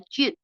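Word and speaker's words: 君: J U N di sini bacanya ciun.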